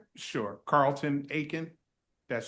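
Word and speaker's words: Aiken: Can you also say your name and spell it for the court reporter? Sure. Carlton Akin.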